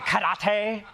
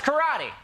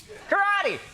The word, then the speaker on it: karate: katana on his wall, pronouncing it karate, like it's karate. karate.